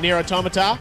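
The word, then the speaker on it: NieR:Automata: award credit where credit is due y'all got near automata so that's how you pronounce that and the winner is near a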